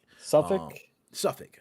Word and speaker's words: Suffolk: Now, a Suffolk, I'm not sure you pronounce it, is that Suffolk? Suffolk.